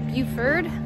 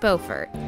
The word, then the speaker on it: Beaufort: just pulled into bulkhead dock um and not buford bufert bufert okay to get it right it's pronounced beaufort north carolina they have a courtesy car we